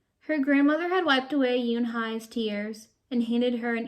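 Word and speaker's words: Unhei: "Oh, nay?" the girl asked, scrunching up her face. Oh, nay," some kids chanted. No, Yoon Hai corrected. "It's spelled U-N-H-E-I. It's pronounced Yoon Hai." "Oh, it's Yo Hey," the boy said, "like you hey.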